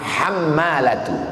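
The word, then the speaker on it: حمالة: Imam Ibnu Hajar al-asqalani alhammalatu cara membacanya bifathil muhmalah hammalatu bukan artinya beban tebusan Diat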